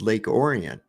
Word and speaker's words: Lake Orion: where I lived called Lake Orion but it's pronounced Lake orian it's spelled exactly the same way and there's